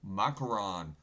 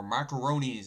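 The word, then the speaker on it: Macron: 2024 and Davos Emmanuel macaron or macaroni as some people that I know that call him that but macaron is the correct name I believe it's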